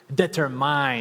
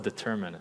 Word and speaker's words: determined: to tell you that I used to mispronounce a lot of words so I would say determine instead of determined my friends would always laugh they would always like but mock me right I would say interwine instead of intertwine right so I made